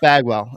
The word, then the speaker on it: Bagwell: love with the Houston Astros and his name rhymes with agwell uh it's Jeff Bagwell uh this guy and he's up there on